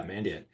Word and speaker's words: Mandiant: Is that how you pronounce it? Mandiant? Yeah, Mandiant.